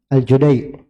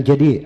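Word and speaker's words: الجديع: orangnya Abdullah BN Yusuf aljudai bukan aljadi aljudai Iya kalau tanya kenapa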